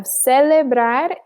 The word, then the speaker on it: celebrar: We have celebrar and gracias. So you'll notice that S sound, right? So CE and CI in Spanish is always going to sound like an S.